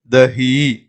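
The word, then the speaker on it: दही: அப்படிங்கும்போது தஹி, தஹி அப்படின்னு சொல்லணும்.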